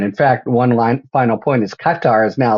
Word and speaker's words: Qatar: In fact, final point is Qatar has now said, we're not so sure ourselves.